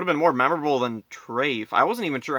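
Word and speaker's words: Trayfe: trafe I wasn't even sure how to like spell it like At first I thought it is a general chief or is it draf or Drake what what's his name trafe according to the end credits it's t-r-a-y-f-e I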